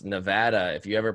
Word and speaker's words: Nevada: we're you right now we're in Nevada it's Nevada if you ever pronounce it Nevada you'll get yelled at I found that out